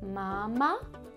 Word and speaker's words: mamá: It's the same word, it just has an accent at the end. So instead of mama, it's mama.